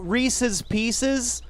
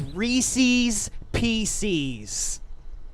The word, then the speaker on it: Reese's Pieces: people who refer to Reese's Pieces as Reese's PCs wait that's not how you say it Isis fly a plane